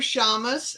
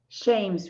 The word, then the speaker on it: Shames: Our first two guests are Deborah Shamus. Is that pronounced right, Deborah? Shames, Rita. Thank you. Shamus and David Booth.